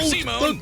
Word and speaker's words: Simon: And as beits Kamina and Simone's unbreakable brotherly bond, Kurin and Lock, create a Wait, his name is pronounced Simone. I thought it was Simon like you know these